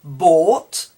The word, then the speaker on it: bought: Bought, B-O-U-G-H-T, and again no inversion. So bought, caught, thought, taught, all end in G-H-T. So the GH is not pronounced, and then we have the T at the end.